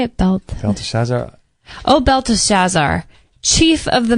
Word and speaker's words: Belteshazzar: Belteshazzar.